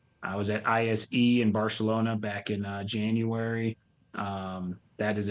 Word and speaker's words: Barcelona: No, Barcelona. Oh, you put a little Yeah. lisp in there? You got it. Barcelona. Yeah, it's a lisp. Yeah, that's how they say it.